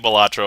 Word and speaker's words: Balatro: I guess Balatro is one, Balatro is another one, and then Balatro. And I'm settling on Balatro mostly because I think if you were to take it from the Latin root, that's how it would be pronounced.